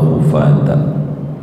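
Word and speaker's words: حفاة: akan orang-orang yang nyeker, bidammil ha'il muhmalati, dibacanya yaitu dengan dhammah ha yang tak bertitik, khufat.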